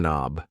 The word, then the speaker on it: knob: This thing here is a doorork knob. A door knob. Yes. The K in knob is silent.